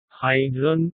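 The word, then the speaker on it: Haydn: আমি এসব সুরকারদের রচনা শুনিনি বটে, কিন্তু এদের নামের উচ্চারণগুলো অন্তত আমার জানা আছে, কিন্তু আপনার নেই। কি রকম? হাইড্রন, মোৎসার্ট, বেটাফেন, এই হলো আসল উচ্চারণ।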